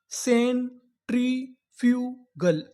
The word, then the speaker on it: सेंट्रीफ्यूगल: सी इ एन सेन टी आर I tree Sen tree F यू एफ यू को यहां पर पढ़ेंगे फ्यू। क्या पढ़ेंगे? फ्यू जी L girl. तो पूरी मीनिंग क्या बनी? सेंट्रीफ्यूगल।